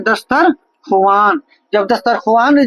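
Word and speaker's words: دسترخوان: खुआन जब दस्तर खुआन जब हम लिखते हैं तो लिखने में ये आता है दस्तर ख वान लेकिन इसको हम पढ़ते हैं क्या दस्तरखान यानी वाव को हम साइलेंट रखते हैं वाव को हम क्या करते हैं साइलेंट रखते हैं ठीक है क्यों इसलिए साइलेंट रखते हैं कि क्योंकि ये वाव लिखा तो जाएगा लेकिन पढ़ा नहीं जाएगा इसलिए इस वाव को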